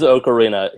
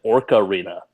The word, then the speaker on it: Ocarina: Haan me it's fine said okarina of time earlier that's the correct way of saying Ocarina of Time no it ain't yes it is I need iar I've heard Nintendo say Ocarina so I say okarina it is okarina he said orcarina oh